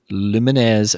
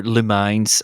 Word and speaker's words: Lumines: next week's game is Luminesz Remastered or Lumines. I call it Lumines because I'm right. It's how you pronounce it. It's not lumines.